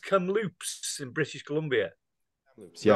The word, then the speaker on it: Kamloops: You're in This is is it pronounced Kamloops in British Columbia?